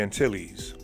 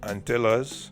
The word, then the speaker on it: Antilles: creole auntie or spanish antilles french antillus dutch antillion antilian creole anti haitian creo aiti and antias in jamaican patois antilles so antilles is pronounced many various ways depending on your dialect all meaning the same